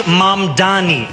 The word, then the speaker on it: Mamdani: The name is Mamdani. M-A-M-D-A-N-I. You should learn how to say it.